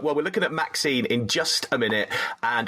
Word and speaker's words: MaXXXine: I don't know how to pronounce this, because it's got just three MaXXXine. X's in the middle. It's just MaXXXine, but there is a reason. I'll explain it. Oh, okay. Right. Well, we're looking at MaXXXine in just a minute.